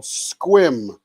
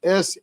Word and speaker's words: Sequim: It's called Sequim, Washington. And Sequim, Washington is spelled Sequim.